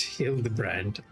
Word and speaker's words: Hildibrand: It's pronounced heal the brand.